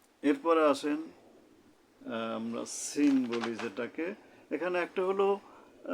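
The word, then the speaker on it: سين: তালবিষা দিয়ে লেখা হয় তো এই সিনের উচ্চারণটা কেমন হবে জিহ্বার আঘাত সামনের নিচের দাঁতের আঘাত থেকে শীষসহ পাতলাভাবে আদায় হবে এবার আরেকবার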